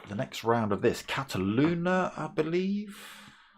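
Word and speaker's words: Catalunya: be back for the next round of this Cataluna, I believe. Cataloonia, let me say it right. Uh yes, Catalunia next week followed by Spar followed by a Nurburg Ring GP.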